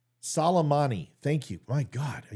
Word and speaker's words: Soleimani: I guess you're forgetting about Solomon Ali. Salmonella. Iran leader. Why is that giving me such problem? Obviously, you know more than me because I can't pronounce the guy's name. Soleimani.